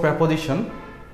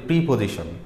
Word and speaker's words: preposition: তো আজকে আমরা আলোচনা করব প্রেপোজিশন। এটাকে বাংলাদেশে যেটা আমরা ভুল উচ্চারণ করি যে প্রিপোজিশন, নেভার এভাবে উচ্চারণ করাই যাবে না, কারণ আমরা